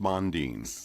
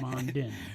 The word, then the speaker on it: Mondin: Is it Mondin or Mondin? It's actually pronounced Mondin. Yeah, but most people have changed it now to Mondin. Yeah. Right. Yeah. It was simpler.